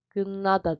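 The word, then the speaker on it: 끝나다: Gıdnada gınnada diye okunur telaffuz olarak.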